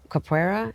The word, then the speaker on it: Capoeira: You're stifling their growth right now, but you're homeschooling them, and you've got Capoeira, is that how you say it?